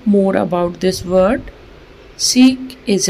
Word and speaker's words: chic: यह वर्ड है सीख this word is pronounced seek seek meaning stylist smart और